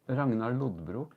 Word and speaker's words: Lodbrok: Yeah, because I'm related to Ragnar Lothbrok. Ragnar Lodbrok. Oh, say it properly. Ragnar Lodbrok. Not Ragnar Lothbrok, which is what I say.